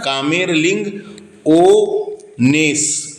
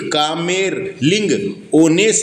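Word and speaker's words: Kamerlingh Onnes: हेइक कामेरलिंग, है ना, कामेरलिंग ओनेस, ओनेस, है ना। क्या है यहाँ पे प्रोनाउंसिएशन गलत लिखा रहता है दोस्तों बुकों में, इसलिए मैं आपको सही नाम बता रहा हूँ।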